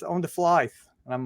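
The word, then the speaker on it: Flythe: know if you know it's not it's f-l-y-t-h-e yeah and I get pronounced flight but don't ask me it's fly it's just fly and when I see what just pretend like the t-h-e isn't there like Marty McFly exactly everybody I got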